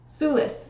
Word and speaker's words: Sulis: to look her up okay and it is pronounced Sulis suus okay she is an ancient British goddess